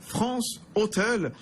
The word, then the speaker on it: France Hostels: avec nous, fondateur de France Hôtel, réseau d'auberges de jeunesse. Alors je dis France Hôtel, France Hostels, voilà, on va le prononcer à la française.